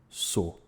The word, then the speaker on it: sou: → sou (I am) The latter has already been lost in the center and south of the country, being pronounced [o] and not in these places. I don't say sou, I say "sô".